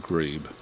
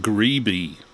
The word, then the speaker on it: Grebe: 40 in 1935 um actually his name should be pronounced greeby according to most of the american references he was a radio